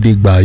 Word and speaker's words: Gidigba: It's called GUBA, if I said it right. GUBA. Yeah, man. What does it mean? How do you spell it? It's spelled GIDIGBA. And how do you pronounce it? GUBA, yeah. GUBA.